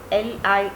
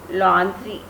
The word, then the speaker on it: lingerie: And the spellings are like this, L-I-N-G-E-R-I-E. And the pronunciation will be laundry, laundry, not lingerie, laundry.